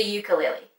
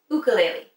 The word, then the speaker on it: ukulele: to listen to today most people call the ukulele but it's actually pronounced ukulele and is commonly associated with the beautiful island